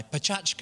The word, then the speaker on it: Pecha Kucha: that's the theme of my uh my pachka as I've been told to pronounce it this evening um we are often